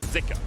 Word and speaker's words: Zika: and it was pronounced zuka on the LPL English broadcast but we have seen some people saying that in Chinese actually pronounced more with an i zika so I think for